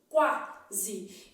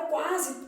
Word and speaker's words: quase: Só que na palavra quase o U é pronunciado, ó. Quar. Qu. Quando você fizer um lugar a boca assim embaixo, vai ser u. Quase. Então, na palavra quase, u é pronunciado, de modo que não aparece o quê? Dígrafo. Então, olha aqui. Na palavra quase tudo é pronunciado. Ó, quase. Esse S tem som de Z.